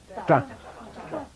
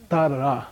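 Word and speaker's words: ཏ: Ta. Ta. And don't try to say tr. It's not ta-ra or something like that. It's just one boom.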